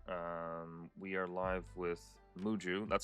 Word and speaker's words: Muhju: Um, we are live with Muju. That's how you pronounce it.